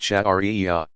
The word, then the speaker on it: Sharia: The outcome of all this study and interpretation is called Sharia, pronounced Shari'iyah.